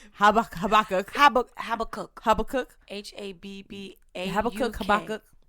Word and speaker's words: Habakkuk: I'm not going to pronounce it. Okay. And I'm not going to help you. Habakkuk. Habakkuk.